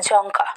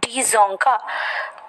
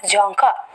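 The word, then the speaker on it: Dzongkha: the official language is janka not d zonka the silent of the the pronunciation of the d is silent that is jonker nepal kathmandu and nepali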